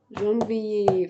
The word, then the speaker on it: janvier: janvier, février, mars, avril, mai, juin, juillet, juin, juillet, juin, juillet, juin, juillet.